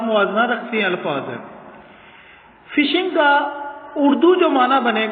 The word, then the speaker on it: phishing: Topic ہے وہ ہے فشنگ اٹیک۔ لفظ سپیلنگ جو ہے وہ PHISHING، فشنگ پڑھنا ہے اسے، پی سائلنٹ ہے۔ برٹش انگلش رول کے